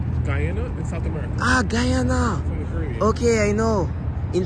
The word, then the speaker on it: Guyana: you're from where Guana in South America ah Guyana from okay I know in French we say